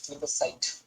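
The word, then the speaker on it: plebiscite: आहे म्हणजे राज्यशास्त्र मध्ये थोडसं प्रॉब्लेम आहे प्लेबिस्टिक प्लेबिसाइट प्लेबिसाइट प्लेबिस साइट एक मिनिट थांबा पी एल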